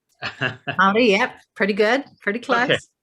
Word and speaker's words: Māori: want to say, the indigenous, sorry if I mispronounce it, Maori. Maori, yep, pretty good, pretty close.